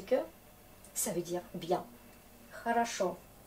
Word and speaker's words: Хорошо: Хорошо. L'accent est là, du coup on prononce ça comme A.